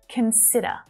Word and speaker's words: consider: Can you hear the stressed syllable? Where is it? It's in the middle. Consider. But it's not I. All right, it's that short vowel sound. There it is. Consider. Consider. So even though it's a stressed syllable, that vowel sound is still short, though it's the strongest one, okay?